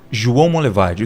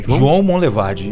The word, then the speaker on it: João Monlevade: João Monlevade. Duvido se eu conseguir pronunciar corretamente. João Monlevade? É. Não é? Foi meio que um sotaque aí. Mas como que é? João Monlevade. Monlevade. Isso, João Monlevade.